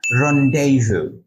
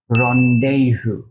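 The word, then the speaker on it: rendezvous: উচ্চারণ কি হবে কনফিউজড এটার উচ্চারণ হবে রন্ডেভু রন্ডেভু তার মানে দেখুন স্পেলিং এর সাথে উচ্চারণের কত পার্থক্য প্রিনাউন্সিয়েশন and spelling right completely different right তো চলুন এটার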